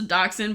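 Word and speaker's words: dachshund: one no I think it's just a doxin but it's spelled like Dutch hound is that what it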